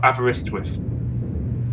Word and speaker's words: Aberystwyth: How is that pronounced anyway? Well, Aberystwyth.